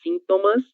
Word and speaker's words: sintomas: Ustedes dizem sintomas e nós falamos sintomas. Existe aí só uma mudança na sílaba tônica dessa palavra, ok?